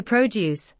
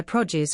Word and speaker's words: produce: Note the stress is on the first syllable. P O juice as a verb to produce. The stress is on the second syllable. Example, I always buy my produce from the local farmers